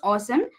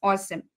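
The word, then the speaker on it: OSEMN: so we pronounce it as awesome it's it's spell as os e m n but it you have to pronounce it as awesome right so here o stands for optim obtain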